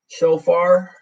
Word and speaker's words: shofar: Shofar, is that, am I saying it right, Juan? Shofar.